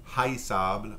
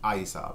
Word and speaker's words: haïssable: And from haïr, you get the verb, the adjective, haïssable, or pronounced haïssable. Some folks pronounce the H, some folks don't.